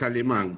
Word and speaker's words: Alemán: disculpen, por favor, el apellido es Alemán, con acento en la A.